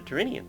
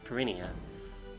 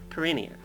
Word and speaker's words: Perinia: that know your geography, you might recall that there is a sea to the south of Italy named the Tyrrhenian Sea, and hence that's why you should pronounce this Perinia, because it pretty much has the same spelling.